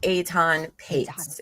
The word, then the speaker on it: Etan Patz: I know it's spelled not how it sounds.